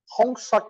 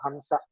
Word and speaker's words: Hansa: you know Hong technique they say Hong technique because he's a Bengali their pronunciation is H becomes Hong and S becomes H because they are Bengali so they think that is the Mantra but anyway that's a Bengali pronunciation of Hansa so inhale will go